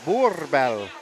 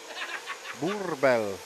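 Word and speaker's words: Boerboel: So I'm pronouncing it's Boorbell, like boar. Boorbell.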